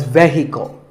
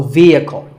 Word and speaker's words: vehicle: It's often pronounced wrongly as vehicle, but the E is a long vowel and the H is silent, so vehicle.